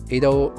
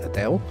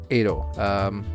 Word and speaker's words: Ado: Ado is Ado, not Adele.